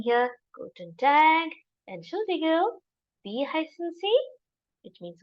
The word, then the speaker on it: Entschuldigung: How do we pronounce this? Guten Tag. Entschuldigung.